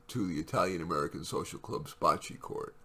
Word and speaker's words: bocce: He goes twice a week to the Italian-American social club's bocce court. Actually, they pronounce it boce, I hear, where he plays 2 games.